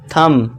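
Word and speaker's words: thumb: और इसके बाद देखिए टी एच यू एम बी। तो इसे क्या पढ़ेंगे? थंब ना कि थंब। ठीक है दोस्तों? थंब। यहां पे बी साइलेंट हो जाएगा।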